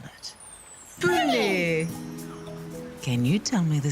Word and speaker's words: pune: Let's all say the word together, and then you can try and spell it. Pune.